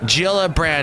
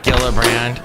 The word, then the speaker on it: Gillibrand: Yes, I meant Gillibrand, not Gillibrand.